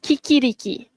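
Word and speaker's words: chicchirichì: So, let's see how many of you tadi cakap ci rich ataupun ada juga yang dah dapat betul. Okey, kiki riki. That's the right pronunciation.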